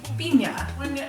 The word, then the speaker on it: piña: samito Pina is a traditional authentic Salvadorian bundles it but that's part of this bundles it is the pineapple which instead --is-- is pronounced pina if you have family members so most popular